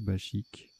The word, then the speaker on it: bachique: maubèche embauche chasuble branchu bachique ou bakic à je sais plus c'est pas précisé donc ça doit se prononcer bachique alors voilà trébucha tirage